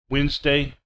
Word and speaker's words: Wednesday: Silent D, handkerchief, handsome, Wednesday, sandwich.